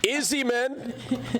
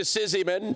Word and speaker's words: Izzyman: Izzy, man. commonly mispronounced to Sizzyman, but it's Izzyman.